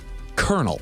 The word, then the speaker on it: colonel: Colonel. Colonel. Colonel. Colonel. Colonial. Yeah. Collonel. Mhm. colonial Well, yeah, we spell it stupid, but yeah.